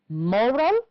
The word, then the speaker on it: moral: Which words are stressed on the first syllable? Yes, labor, moral, practice, and loyal. And the other words are stressed on the second syllable, that is, the words protect and agree.